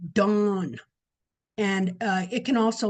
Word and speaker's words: Dan: So it is pronounced dawn and uh it can also be spelled d o n.